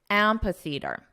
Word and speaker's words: amphitheater: Now the syllable stress is on the 1st syllable, so let's combine the sounds together and we'll emphasize the first syllable.